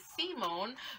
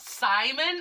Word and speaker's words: Simon: so day seven is simone from guden lagann and his name is is spelt simon i feel like if he was english who would say simon but in japanese is simone sibone yeah whatever it's